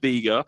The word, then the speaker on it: Beqa: after the town so they spelt it BEQ a it's big and still pronounced it bigger so they could get